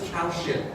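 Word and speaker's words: Kaushik: Um, and he he pronounced it cow.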